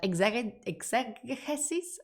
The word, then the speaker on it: exegesis: if I'm pronouncing that, exegesis? How do you pronounce that in English? Because in Spanish, it's exegesis. I'm going to Google it. Exegesis. Exegesis, like being the ex of a Jesus.